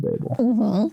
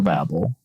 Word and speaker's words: Babel: of the Tower of Babel or Babel I've heard both plenty I don't have a strong preference on the pronunciation I know somebody out